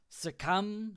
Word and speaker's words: succumb: So usually, like when there's an MB, the B is silent. Succumb is the verb.